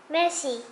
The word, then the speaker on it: merci: You say it like this. Merci, miserable, very unhappy.